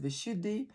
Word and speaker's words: Vishuddhi: look at some of the features of the vishuddhi chakra and by the way it's pronounced vishuddhi or the depending on what part of the